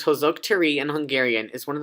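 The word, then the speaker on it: Hősök tere: a junior wash you heroes square pronounced hose oak tree and hungarian is one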